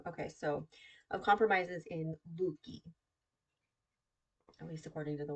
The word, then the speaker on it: Leuke: Luke, That's not right. Luke. Luke, Luke. Huh. I feel like that's wrong because the other pronunciation did not say Luke.